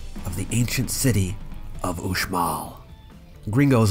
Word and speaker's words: Uxmal: stop the site of the ancient city of OMA gringos like us have been known to say oops small but please keep in mind that in Mayan